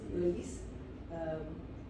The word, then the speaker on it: Eulis: It's pronounced Eulis. as in early morning.